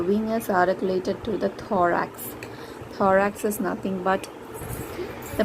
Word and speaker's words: thorax: is called as the thorax the connect correct pronunciation is thorax not tarrax it's thorax or just form a joint the mandible is